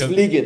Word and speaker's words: Vliegen: Can you pronounce your last name correctly because we're I'm probably butchering it. Doesn't matter. It's Vlegan.